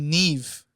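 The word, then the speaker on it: Niamh: me bro I know a girl named Neeve and her name is spelled n i a MH not uncommon but I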